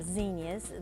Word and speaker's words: zinnia: of people call them zenas they were actually named after a botanist named Zen so they correct nameing vinia and I like that because it rhymes with Virginia Virginia tells us it